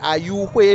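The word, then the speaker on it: Ayouxwé: et je dis Ayouhwe, non pas Ayouhwe. C'est important puisque je le prononce dans la langue Aïzo, qui est la langue principale d'ici. Ce n'est pas Ayou, Ayouhwe, puisque cette langue a une intonation aiguë qui permet vraiment de le distinguer d'autres langues de la même famille.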